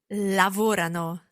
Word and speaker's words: lavorano: Lavorano. Now this is where the stress changes, and it's very important to remember that. Let's listen again. Lavorano.